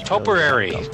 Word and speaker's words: topiary: Oh, yes. Topiary. Okay, yes. You can see where I went wrong. Yeah, it's kind of like potpourri. Yeah.